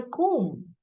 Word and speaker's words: comb: Where is my comb? I don't say comb. I hurt my limb. Okay, so the B is silent here and the combination of M and B.